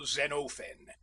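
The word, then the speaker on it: Xenophon: Usually I took the part of that distinguished general Zenofen and please note the quantity of the O.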